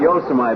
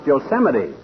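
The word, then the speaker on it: Yosemite: Uh, yosite. No, not yamite, oldtimer. That's pronounced Yoseite.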